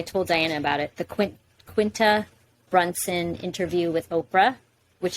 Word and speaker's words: Quinta: In Spanish, you would pronounce it Quinta, which means 5th, but they call her Quinta.